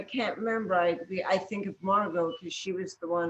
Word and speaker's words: Margaux: Stephen asked, the Hemingway, how do you pronounce her name? Margot.